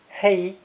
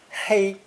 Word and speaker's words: 黑: In either case, this character is pronounced first tone, hei, hei, and both origins mean black in color.